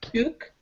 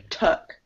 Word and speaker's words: took: There's no like ooh to it. So it's instead of foot, it's foot. Instead of took, it's tuk. Tuk.